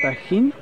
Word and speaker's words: Tajín: Donc, ça s'écrit T-A-G-I-N, mais ça se prononce Tahin.